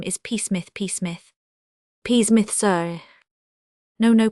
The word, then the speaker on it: Psmith: So I decided to adopt the peacemith the p I should add for your guidance is silent as in thicus psychic and tarmaggan you follow me.